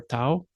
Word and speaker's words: tav: Finally, we have tav or tau.